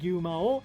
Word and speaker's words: Gyumao: And there's an actual character named Gyumao. That's the Japanese pronunciation.